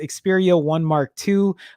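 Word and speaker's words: Xperia 1 II: for clarity it's pronounced Xperia 1 mark 2 following the naming structure of things like Sony's own a 9 mark 2 camera or Iron Man suits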